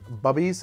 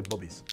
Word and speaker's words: Bubby's: And actually, I'm pronouncing it wrong, by the way. If you ever see that, it says Bubby's. It's actually Bubby's.